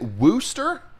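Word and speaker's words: Worcester: it there's no way is it Wooster like rooster here's the thing you guys don't even know how to pronounce it you guys don't even know how to pronounce it I've had thousands of people tell me okay it's like Mister but remove the um M and and replace it with a W whester wher uh and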